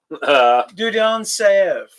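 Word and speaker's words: Dieudonné Saive: I'm gonna have to pronounce some pesky Belgian guy's name now. Dudon Saev.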